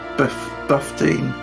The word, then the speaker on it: Buffteen: Number 15 is Buffteen. 15. It's 15, man. It rhymes with 15, so it's not that tricky.